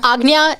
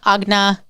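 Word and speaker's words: Ajna: them is very interesting it's terrible um but agnya is typically how it's pronounced agnya agna so a little variation on that but um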